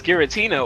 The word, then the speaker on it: Giratina: All right, you're definitely gonna pronounce Giratina. You're gonna fix yourself, and you're gonna fix yourself right now. You're gonna pronounce Giratina as Giratina, or we can't be friends.